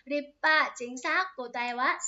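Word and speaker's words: 立派: Chữ lập và phái, phe phái cái thứ chẳng hạn ấy, thì nó sẽ đọc là Rippa, chính xác, cô tay quá, sàm bằng đề, chuẩn xác luôn.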